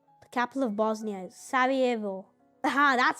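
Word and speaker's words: Sarajevo: The capital of Bosnia is Savvo.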